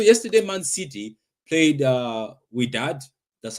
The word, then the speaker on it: Wydad: Anyway, so yesterday, Man City played uh We Dad. That's how they say it, I think. So I kept on saying why dad but it's we dad.